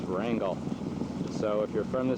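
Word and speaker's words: Wrangell: I've been told you don't call it Rangal. My friends and the restless said that's what yepies in San Francisco would call it. But up here in the north, we pronounce everything real simply. It's Wrangle.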